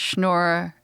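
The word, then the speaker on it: schnorrer: So I call myself a Christmas schnorer. Rhymes with menorah.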